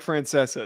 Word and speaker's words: Francesa: this another another great it's not how he pronounces it yes it is it's Francesa you want to make a